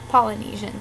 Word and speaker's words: Polynesian: And number 14, Polynesian sauce is pronounced Polynesian sauce, not polyester sauce, Asian sauce, Panamanian sauce, pedestrian sauce, and most certainly not Pomeranian sauce.